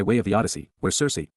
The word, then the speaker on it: Circe: The closest ancient name to church comes by way of the Odyssey, where Circe, pronounced with the hard ch sound, as the daughter of